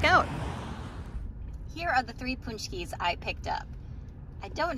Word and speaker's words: Pączki: It looks like it should say be Pączki, but that's not correct. But Pączki.